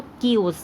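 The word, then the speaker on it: chaos: इसकी स्पेलिंग मैंने आपको बोला था कि थोड़ी सी अलग होती है, बट इसको हम प्रोनाउंस अलग करते हैं, तो कियोज।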